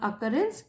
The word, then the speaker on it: occurrence: यहाँ पे कई बार स्टूडेंट्स कंफ्यूज जाते हैं, जहां भी डबल सी आता है उसको क प्रोनाउंस करते हैं, अकरेंस, और डबल आर ENCE।